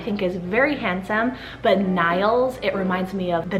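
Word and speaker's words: Nyles: And then my second name for N is the name Niles, so spelled N-Y-L-E-S, and this one's actually a Scandinavian name and it means son of Neil, and then Neil means cloud and is Irish originated.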